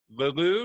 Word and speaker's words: LeLeux: His name is Gary LeLeux. Now, do I have that pronunciation right?